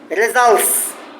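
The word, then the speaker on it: results: এস লাগাও লাস্টে তাহলে রেজাল্টের টি উচ্চারণ হবে না রেজাল্টস হ্যাঁ কি হবে রেজাল্ট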